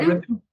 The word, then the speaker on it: Ritu: Ritu. Is that how you say it? Yeah. Ritu.